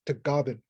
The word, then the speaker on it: Tagaban: And the Philippines is pronounced Tagaban.